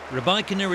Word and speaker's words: Rybakina: Rybakina is the official pronunciation.